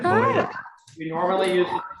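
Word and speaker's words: מועד: How might that be pronounced? Moed. I'm sorry? Is it Moed? It's Moed.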